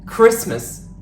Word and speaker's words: Christmas: one last interview today the T isn't pronounced when it's in between to consonants except for R for example Christmas not Christmas exactly not exactly and just saying not just saying I'm very sorry but